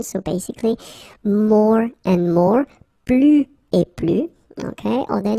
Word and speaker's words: plus: Okay, so you can see that I don't pronounce the final S.